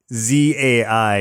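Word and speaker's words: Mind-Zei: But not EYE. It's like a ZAI or something. It's spelled Mind, like MIND dash ZEI.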